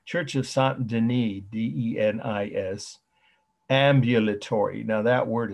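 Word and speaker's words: Saint-Denis: so said our way saint denis now that's the french pronunciation of the first name dennis church of santandini d-e-n-i-s ambulatory now that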